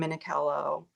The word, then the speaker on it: Minichiello: Okay, so your website, I'm going to put it up, is I'm gonna spell it. It's Kim Minichiello, but it's Minichiello.